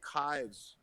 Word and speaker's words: Kives: But anyway, there's this guy named Kives, kind of looks like knives, rhymes with knives.